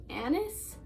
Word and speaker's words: Agnes: It mostly focuses on his wife, Anne, and in the book, it's spelled Agnes, but they say Annis, and I'm not 100%